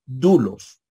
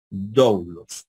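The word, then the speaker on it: δοῦλος: sistemas de pronunciación ustedes siempre van a decir dulos verdad y no douglos Entonces cuando mi hermano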